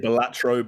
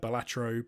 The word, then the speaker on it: Balatro: I say Balatro, but I've been listening to a lot of Americans sing it out loud, so I've probably been influenced by the Yankeeisms.